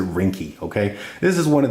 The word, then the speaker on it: Ringke: It's R I N G K E S. So, I'm going to pronounce it rinky.